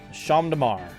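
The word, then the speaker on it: Champ de Mars: the main ceremony of the federation held sham damar rocket gets it it's champs c-h-a-m-p-s damar so it'd be spelled like this but rocket gets it and rocket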